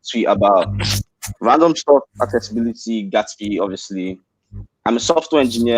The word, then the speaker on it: Gatsby: Yeah, it's pronounced Gatsby, like from the movie The Great Gatsby, but like Gatsby JS.